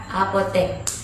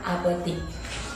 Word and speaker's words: apotek: ke dalam bahasa Indonesia huruf x diserap ke dalam bahasa Indonesia menjadi eh bukan ih Oleh karena itu penulisan kata baku adalah Apotek bukan apotik MP3 abjad atau abjad